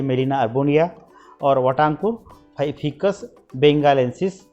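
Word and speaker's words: Gmelina arborea: शिवनमुड़ है ये मेलिना अर्बोरिया, इसका जी साइलेंट है इसलिए मेलिना अर्बोरिया।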